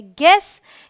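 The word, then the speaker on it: guess: टू क्या कहता है अगर यू जी और किसी वाउल के बीच में हो तो यू साइलेंट होता है तो देखिए जो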